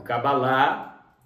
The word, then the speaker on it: Cabalá: é yorubá cab ou na pronúncia correta em hebraico cabalá é judaico né então